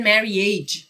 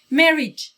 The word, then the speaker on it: marriage: مثل marriage. خیلی ها اینو میگن marriage. اوکی؟ marriage. cottage. یه ای کوتاه بگید.